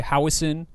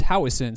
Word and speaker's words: Howieson: A lot of people, as I've discovered, say Howieson. And when I went to Scotland to visit relatives, I think in 2017, they told me, no, it's Howieson. So I've been pronouncing my last name wrong my entire life.